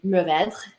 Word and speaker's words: Mourvèdre: But the proper way to say that word would be very French, and it is Mourvèdre, which is, I know that's a butchering.